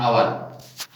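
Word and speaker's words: hour: Beginning with silent H. यहां पर हम लिखेंगे और यहां पर जो एच है ये साइलेंट रहता है. एच यहां साइलेंट रहता है. ऑनेस्ट, ऑनेस्ट मैन हम यहां लिखते हैं एन ऑनेस्ट मैन. यहां पर लिखते हैं एन आवर, क्योंकि ये जो एच है ये साइलेंट है.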